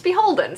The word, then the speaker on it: BHLDN: It's Beholden, so now you know how it's actually pronounced.